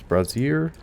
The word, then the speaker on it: brazier: Someone's brazier. Or is it pronounced... see, brazier or brazier is, like a bra, right?